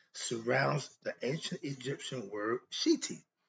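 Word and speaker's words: shedy: ancient Egyptian religion surrounds the ancient Egyptian word shiti s h e TI or s h e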